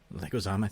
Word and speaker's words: Leguizamo: How do you pronounce his name? Leguizamo, thank you.